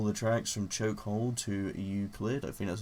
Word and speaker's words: Euclid: let's review all the tracks from Chokehold to Euclid I think that's how you pronounce it we're going to start off with